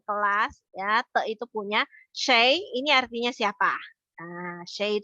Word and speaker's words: 谁: Nah, bahasa Mandarinnya yang baru kita bilangnya Shay, kita bacanya Shay. Kalau kakek-kakek kalian dulu mungkin ya, kamu dengar kakek kamu bilang, nggak usah dulu kakek saya bilang siapa, bukan bacanya bukan Shay, tapi dia bilangnya Shui. Itu sama aja, cuma itu ejaan zaman dahulu kala lah, Shui gitu ya.